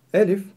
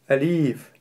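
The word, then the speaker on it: ألف: Некоторые произносят ее неправильно и делают ударение на втором слоге, произнося «алиф», что является неправильным. Некоторые говорят слишком твердо «алиф», что также неверно. Правильно говорить «элиф».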